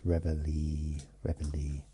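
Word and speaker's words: Reveille: Yeah, I put too much emphasis on the ei rather than the e at the end. So it's rely ree um it's the bugle sound that is played in the morning in the military.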